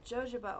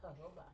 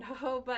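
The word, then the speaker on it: jojoba: Um, Joja oil. I think it's pronounced hoba.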